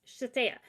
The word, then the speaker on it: Shithead: Well, they finally get up closer, and the girl's name was Shatea, literally spelled shithead, Yeah. but pronounced Shatea.